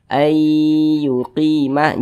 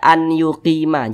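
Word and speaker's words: أَنْ يُقِيمَ: Kita baca ayyuqima, jangan dibaca an yuqima, jangan, tapi dibaca ayyuqima, begitu.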